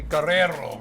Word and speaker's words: Guerrero: Can you please, you need to roll your R's, okay? Guerrero.